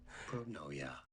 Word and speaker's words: pronoia: How do you say pronoia?